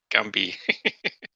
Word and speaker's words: Gumby: get his pronunciation correct I believe it's gumpy I don't believe it's bumpy I believe it is Gumby yeah the mean green